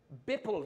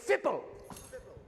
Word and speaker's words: fipple: It rhymes with nipple. I heard someone shout it. Use your crowd. Bipple. That's a All right, we're getting a little farther. Different phone. It is a fipple.